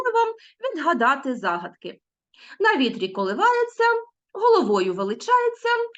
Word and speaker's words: коливається: який знак ся ся Тобто ми вимовляємо Т м'який знак точніше пишемо Т мякий знак ся а чуємо коливається чуємо Ця так само